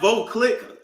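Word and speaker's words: Veuve Clicquot: Oh, this is pronounced Voclick.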